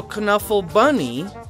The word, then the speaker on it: Knuffle Bunny: There's Kuh-Nuffle Bunny 2, but there's also Kuh-Nuffle Bunny. And we didn't know that's how it's pronounced, so it's called Knuffle Bunny.